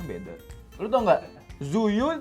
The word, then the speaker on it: Tzuyu: Zuyu itu bacanya cuwi tau. Apa? TZUYU dibacanya cuwi.